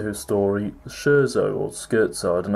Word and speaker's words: Scherzo: incredibly well-known Doctor Who story the Scherzo or skirt side and how you really pronounce it but I think a lot of people call it Scherzer so yeah this is written by the legend